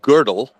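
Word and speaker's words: Gödel: name of the mathematician it's pronounced girdle but it's spelled Goodell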